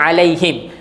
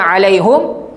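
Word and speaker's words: عليهم: Macam kalau kita baca biasanya alaihim. Kenapa baca him, tak baca hum? Untuk meringankan sebutan. Kenapa ada qiraat baca alaihum? Sebab dia mengikut sebutan yang asal.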